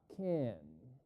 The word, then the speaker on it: can: y para pronunciarlo pues no vamos a decir can vamos a decir un poquito parecido a Ken no sé si ustedes